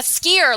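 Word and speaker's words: skyr: an organic brand and we're skier and no one knows how to pronounce it they're like what skier and we're like like a skier like on a slope and we're explaining like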